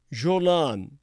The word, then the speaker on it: Golan: Samaria, the Jordan Valley, the Golan Heights, Jolan being the proper pronunciation, expanded East Jerusalem, or within the 1949 armistice lines, are subject to the decisions of the same government.